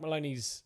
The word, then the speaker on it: Maloney: to look on Mike Maloney's Maloney not Mahoney there's my bad sorry